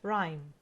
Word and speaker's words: rhyme: y or M rhyme we mute the letter H rhyme number two which word